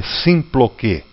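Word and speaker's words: συμπλοκή: Né, se escreve S-U-M-P-L-O-K-E e se lê Symploké.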